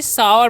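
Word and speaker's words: sour: क्या पढ़ते हैं जी सावर पढ़ते हैं सावर मतलब क्या होता है खट्टा होता है यानी कि ओयू का जो चरण है यहां पर आ होता है इसलिए हम इसे सावर पढ़ते हैं जैसे हम बोलेंगे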